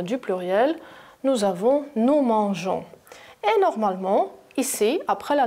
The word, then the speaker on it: mangeons: Alors, pour ne pas dire nous mangons, j'ajoute ici la lettre E, faites attention, et je veux dire nous mangeons. Je ne veux pas prononcer nous mangeons, bien sûr, ce n'est pas correct. Je veux dire nous mangeons directement.